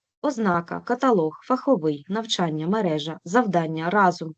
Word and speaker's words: каталог: а далі найбільш уживані слова з єдиним правильним наголосом ознака каталог фаховий навчання мережа завдання разом поняття посередині довідник